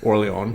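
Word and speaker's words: Orléans: The first one is Orleans, or when properly pronounced, Orleans.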